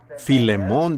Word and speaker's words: Filemón: Así que Filemón, dijo alguien allá atrás, lo cual creo que es la pronunciación correcta.